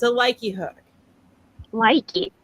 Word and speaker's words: Lykke: It's a Likey hook. Likey. Do you spell that Lykke? Yes. Yes. Awesome. Yeah. Likey. I looked up a couple of different videos about it, and that's how people were pronouncing it.